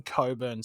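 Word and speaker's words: Cockburn: federation western australian team in coburn city yes that's how it's pronounced no it's not how you think it is traveling to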